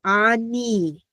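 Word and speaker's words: אני: We have the noon sound, the N, followed by the hirik, the little bit longer E. So Ani. Okay, and that's how that works.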